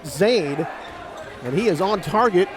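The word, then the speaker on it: Xayne: down is zann mojadidi he spells that first name x a y n e pronounced Zade and he is on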